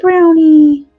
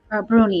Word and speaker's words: brownie: Look at the brownie. Bruni. You're supposed to call him Bruni, though.